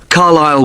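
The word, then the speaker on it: Carlisle: 45 Carile Way. Could you spell Carlile for me? Sorry, it's C A R L I S L E. You don't pronounce the S. Carlile way.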